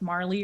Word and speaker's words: Marle: how to pronounce it it was pronounced marley or something like that yeah mal oh m-a-r-l-e never knew where to pronounce i've always pronounced it mal but there's a there's